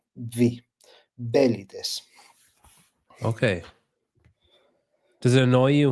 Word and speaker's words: Velites: accent in the first two in the first syllable. V belly. Okay. Does it annoy you when people say it wrong? Cuz like if I was saying it, I would call it like vlights.